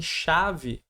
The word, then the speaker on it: chave: Repara que em chave eu tenho o C e o H, mas produzo o som de X, OK?